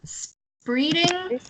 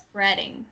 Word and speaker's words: spreading: So you pronounced it as spreading, but it's spreading. Yeah. That's a little bit of a trick because usually E before A, you pronounce the E, but this time it's like eh instead of E sound.